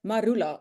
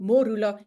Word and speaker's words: marula: The national tree of Botswana is the marula. And we actually say it wrongly when we speak about it. It's supposed to be the Morula if we following the Setuana word for it.